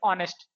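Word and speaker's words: honest: का प्रयोग करें जैसे ऑनेस्ट ठीक है तो इसका उच्चारण क्या होता है ऑनेस्ट होता है नेस्ट नहीं होता दोस्तों ठीक है ये क्या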